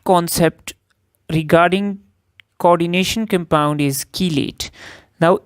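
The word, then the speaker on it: chelate: regarding coordination compound is कीलेट नाउ इट is pronounced as की लेट सो इट इज़ कीलेट now what is अ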